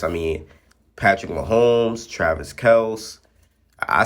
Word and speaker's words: Kelce: I say Kelce. A lot of people say Kelsey, but I've personally called him Kelce. I don't. That's just how I call. That's what I call him. You feel? I'm not pronouncing his name wrong on purpose. No, actually, I am pronouncing his name wrong on purpose. That's what I actually call him, Kelce, not Kelsey.